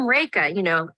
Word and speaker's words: Rekha: So I have to introduce myself with a little mnemonic, like I'm Rekha, like rake, as in the thing for leave.